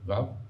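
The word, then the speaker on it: וָו: Il y en a une qui est le Vav, qui est une petite lettre toute droite comme ça, qu'on prononce Vav, Ve en français, qui est une lettre incroyable.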